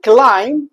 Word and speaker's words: climb: I climb البي لا ينطق.